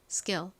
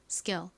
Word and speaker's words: skill: K가 온 경우 거의 된 소리처럼 좀 세게 발음하는 경향이 있어요. 그래서 쌍 기억에 가깝게 소리가 납니다. skill skill 이렇게요. 따라해 보세요. skill. 한 번 더 해 볼게요. skill.이 L 부분을 발음할 때 혀를 앞니 뒤쪽에 대면서 발음해 주시면 됩니다.